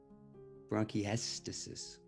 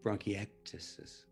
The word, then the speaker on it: bronchiectasis: way uh i have bronchiestices and he said you have what and i said bronchiestasis he said no no no it's pronounced bronchiectasis and i think i